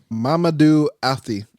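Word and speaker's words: Mamadou Athie: Mamadou Afti. I mean, his name, that's how you pronounce his name.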